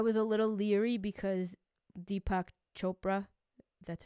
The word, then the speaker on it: Deepak Chopra: funny because I was a little leery because Deepak Chopra that's how you say it is is the